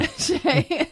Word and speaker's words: Hsieh: Hsieh.